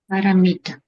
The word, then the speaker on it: paramita: And then what is the last syllable? Ta. So say it all together. Sorry, say again. Paramita.